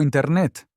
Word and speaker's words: Internet: Decía todo el tiempo Internet. No pronunciaba la T final. Así sonaba gracioso. ¿Y qué hiciste? Le dije amable por la pared. La T quiere sonar.